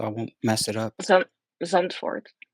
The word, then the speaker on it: Zandvoort: Now, the one thing about the track pronounce it for me, Naomi, so I won't mess it up. Zandvoort. Zandvoort.